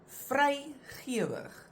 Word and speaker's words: vrygewig: These words that we're going to look at now, the examples, they have always been written with only one vowel, and you always pronounce them as a langklank.